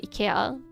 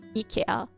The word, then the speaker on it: IKEA: Oh, it's literally just pronouncing the IKEA, like pronunciation, the letters IKEA. IKEA.